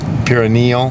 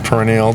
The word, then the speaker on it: perineal: And anyway, so he has a hernia, perineal or perineal, depending on how you want to pronounce it, perineal hernia, which